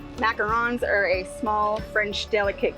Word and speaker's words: macarons: And she's like oh no no no lady you don't say it like that. So tell us what is the difference between macaroons and what you sell which is we make macarons. Macarons are a small French delicate cookie made with almond flour.